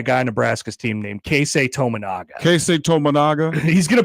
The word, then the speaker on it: Keisei Tominaga: Charles Barkley is going to be amazed by a guy on Nebraska's team named Keisei Tominaga. Keisei Tominaga? He's going to pronounce it wrong. I can guarantee you that. Keisei Tomagana?